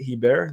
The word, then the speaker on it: Herbert: Herbert. The T is silent. True French Canadian right there.